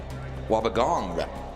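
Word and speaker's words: Wobbegong: Wabagong with a G on the end. I didn't see that. I didn't see the G.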